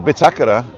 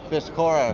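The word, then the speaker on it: bitácora: And the Bitakara is a hotel here, and nobody calls it Bitakara. It's Bitakora. Bitakora. For a lot. Yeah, Bitakora. But because there's an accent on the A, it's pronounced Bitakara.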